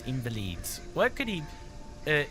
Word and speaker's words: Invalides: St Germain near L invalides what could he uh invalid the S is silent what could he possibly